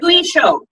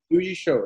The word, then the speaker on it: Liuyishou: So it's Lu and then E show. Like Liuyishou. Liuyishou, yeah.